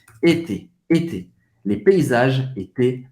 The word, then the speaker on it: était: E a pronúncia était A-I-E-N-T. Você vai pronunciar basicamente E. E-T. Como se fosse assim. Était.